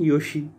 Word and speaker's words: 義: But when used in names, it can have the pronunciation Yoshi.